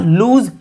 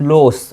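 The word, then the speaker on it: lose: तो ही डिड नॉट लूज hope. लूज पढ़ेंगे बच्चे इसको, नॉट लॉस। ओके, LOOSE को लॉस पढ़ते हैं, इसको लूज पढ़ते हैं।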